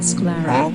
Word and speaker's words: sclera: Okay Google, how to pronounce Sclera? You idiot. It's called Sclera.